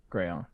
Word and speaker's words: crayon: __ ] funny huh crayon crayon it's a two-syllable word anyway I just want